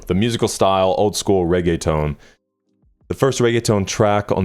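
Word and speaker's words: reggaeton: Pronunciations. But now hopefully we'll know for life. Reay town. Regga tone.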